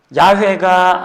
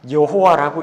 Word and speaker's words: 여호와: 정도로 아주 많이 사용됩니다 자 야외가 아니라 여호와라고 읽습니다 자 창세기 6장 창세기